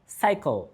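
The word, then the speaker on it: cycle: বা সার্কল কেন কার্কল নয়, অথবা এই শব্দের উচ্চারণ কেনই বা সাইকেল কেন কাইকেল নয়?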